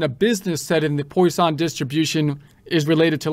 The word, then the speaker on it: Poisson: it's not going to it's not like it's poison and we're not poison poisoning you here it's a poisson distribution the emphasis on the second bit there so similar kind